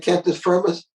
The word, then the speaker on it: cantus firmus: Is it cantus firma? Yeah. Is that the right pronunciation of it? Yeah. I was just reading about it today, actually. Cantus-firmus. Yeah. Cantus firmus and cantus firmi.